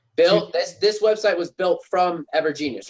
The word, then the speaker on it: Evergenius: This website was built from Evergenius, right?